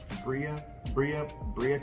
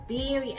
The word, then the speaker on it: Birria: What? Bria taco, Berea tacos. Birria. Remember I Birria. told you? Birria.